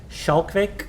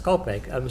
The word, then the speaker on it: Schalkwyk: When you're speaking to a person, and my last name is Schalkwyk, and whenever I say to somebody, then they say Schalkwyk, and say no, it's Schalkwyk.